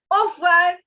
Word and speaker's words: au revoir: So, you know, while pronouncing, you can actually skip pronouncing this. All right? Au revoir. Au revoir. You know, actually they pronounce this, but since we don't have that accent, no, it doesn't sound right. So instead, we will just pronounce it as au revoir.